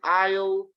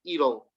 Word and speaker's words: it'll: So, se puede decir I'll, you'll, he'll, she'll, it'll. Este sí, en la pronunciación un poco complicada, es it'll. No es ill, es it'll. It'll es como una D-O, it'll.